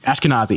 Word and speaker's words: Ashkenazi: Am I saying you Ashkenazi? Yeah. Okay. I think I think I'm sure there's a different uh pronunciation depending on where you're from and how you say it. But yes, that is it.